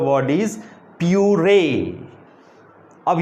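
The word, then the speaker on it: purée: लोग तैयार करते हैं, दैट इज़ प्यूरे, प्यूरे। उसको हम लोग इस तरीके से प्रोनाउंस करेंगे।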